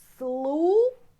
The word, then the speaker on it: слушать: T, you see T, it's a letter, but not like in English T we have, but мягкий знак at the end. This letter, мягкий знак, means that T should be softer.